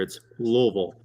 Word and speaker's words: Louisville: It's you got to kind of slam it all together. It's Louisville.